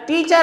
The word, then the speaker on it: teacher: जब लास्ट में टीचर word आएगा तो आर को प्रोनाउंस नहीं करेंगे, लेकिन कहीं कनेक्शन में बीच में ये वर्ड आता है और उसके बाद वाला वर्ड वोवल साउंड से शुरू होता है तो हम उस आर को प्रोनाउंस करेंगे.